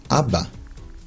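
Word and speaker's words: אבא: this one meaning dad ABA in this case the second second alif is silent name this letter gim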